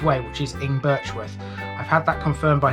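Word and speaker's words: Ingbirchworth: english with by the end of it i'm pronouncing it the correct way which is in birchwood i've had that confirmed by somebody that's the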